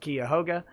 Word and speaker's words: Cuyahoga: Andrew War Snowboard says, Cuyahoga is pronounced Cuyahoga.